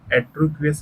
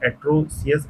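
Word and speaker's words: atrocious: Then देखें तो which of the following is द एट्रोक्वियस animal, ये एट्रोसियस एनिमल, इसको देखिए करेक्टली प्रोनाउंस करेंगे, क्या है एट्रोसियस एनिमल कौन सा है?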